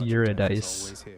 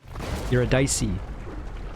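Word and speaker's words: Eurydice: bye it's like spelt eurodice but it's not pronounced eurodice you're a dicey oh yes i remember this i'm just gonna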